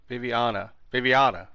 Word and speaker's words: Viviana: Viviana.